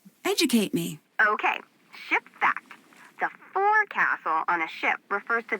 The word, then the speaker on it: forecastle: ship but it's pronounced focus off why is that try pronouncing it like an English sailor with no formal education Oh castle oak so